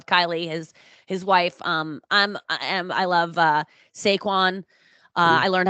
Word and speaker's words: Saquon: I love Saquon.